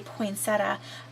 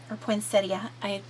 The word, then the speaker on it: poinsettia: Recollections flowers, and it reminds me of a poinsettia, or poinsettia, either way you want to pronounce it, and it's just a little tuck piece.